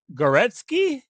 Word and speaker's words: Goretsky: Is it Goretsky? Yes. Hey, I said it right.